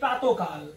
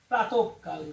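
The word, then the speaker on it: প্রাতঃকাল: এরকম যদি আমরা বলি প্রাতকাল, আমরা অনেকে উচ্চারণ করি প্রাতকাল, আসলে উচ্চারণ সঠিক নয়, কারণ বিসর্গ পরের ধ্বনিকে দ্বিত্ব করবে। তাহলে উচ্চারণ কি করতে হবে? প্রাতকাল।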